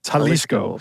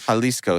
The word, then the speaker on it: Jalisco: people I don't know can I correct you on pronunciation sure halisco halisco thank you thank you very much